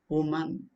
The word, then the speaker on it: woman: with this word okay woman woman w whenever there is spelling w it is round rounded consonant o who is different from y y is not rounded under this is o one woman you have to say woman she is an she is